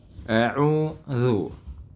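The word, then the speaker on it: أعوذ: meskipun kembalinya hanya ringan ya ketika mengucapkan auzu seperti auzu ya auudzu. Adapun alasan pertama atau model baca pertama yaitu tanpa dikembalikan auzu. Kenapa tetap dimonyongkan? Karena alasannya wau itu adalah huruf yang ketika diucapkan diucapkan tetap memonyongkan bibir ya.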